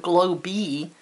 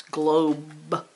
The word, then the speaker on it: globe: don't hear that e it's not glow b it's globe so i hear the